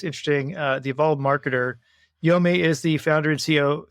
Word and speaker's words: Yomi: pronunciation as I said just pretend you're Japanese and you get it right all right here we